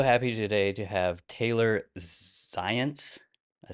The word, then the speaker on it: Zajonc: I'm so happy today to have Taylor Zients.